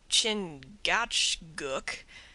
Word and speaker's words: Chingachgook: his acute Indian experts chingachgook pronounced Chicago I think has lost